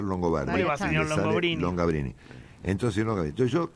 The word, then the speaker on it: Longobardi: que la máxima deformación que escuché ha sido long gabrini long quién te dijo longini Bueno un amigo escocés en Escocia que no tenía forma de de pronunciar longobardi long gabrini entonces Entonces yo qué hice frente